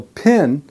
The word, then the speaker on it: pin: So pin, that has a short I sound that I've explained in my previous lessons. So I, pi, pin, pin.